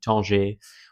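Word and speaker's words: Tanger: So, I'm just going to pronounce it the French way to keep it simple and easy for me. Ton. When I went to Ton, which is uh northern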